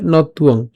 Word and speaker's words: নত্বং: একসাথে উচ্চারণ করলে নতুয়ং, নতুয়ং, ঠিক আছে।